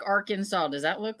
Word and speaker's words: Arkansas: exactly there's when people say arkansas they say are can soar instead of arkansas it's handsome it's not silent ah kansas uh